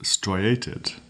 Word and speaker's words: striated: Our fourth word is striated. Striated. It's spelled S-T-R-I, stri, A-T-E-D, ated, striated, striated.